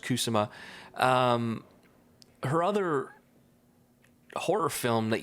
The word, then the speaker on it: Kusama: Yeah, and this director, really quick, Karen Kusama, I think it's pronounced Kusama.